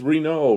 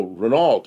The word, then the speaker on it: Renault: And then there was Reno, Renault, Reno.